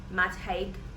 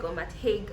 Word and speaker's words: Matt Haig: be reviewing is um the midnight library by matt hyde it's much higher matt haig i i did not bother to check the pronunciation because i didn't know i was going